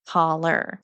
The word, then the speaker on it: hollow: And people answered hollow, and a lot of them pronounced it holler.